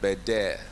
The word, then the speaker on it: Bendel: Like the Deputy Governor said, you know, it's Bendel, but it's pronounced Beder.